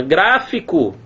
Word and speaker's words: gráfico: é uma palavra proparoxitono onde é que tá a sílaba tônica tá aqui na aí alguém fala assim professor a sílaba tônica é a primeira sílaba né não não diga